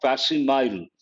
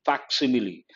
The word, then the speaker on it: facsimile: Exact copy, people mispronounce it is not facsimile, it is facsimile.